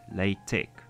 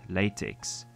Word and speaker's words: LaTeX: the name is the pronunciation the software is pronounced latex not latex as you might first think in order to